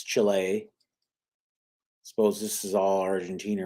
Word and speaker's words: Chile: know this is chile people pronounce the chili but it's chile suppose this is all